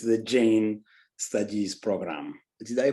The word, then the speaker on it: Jain: It's the Jain Studies program. Did I pronounce the Jain right?